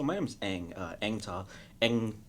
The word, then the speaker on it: Anh: Ang pronounced like the last Airbender.